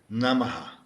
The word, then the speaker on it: namah: Namaha. Namaha is the third word, and it's made of two syllables, nam na, and ma. Now, the final h isn't really a ha sound.